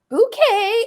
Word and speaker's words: Bucket: So her last name is spelled Bucket, but she's like prim and proper. She's always trying to come across like that she's, high society and all this. And she's like, bouquet.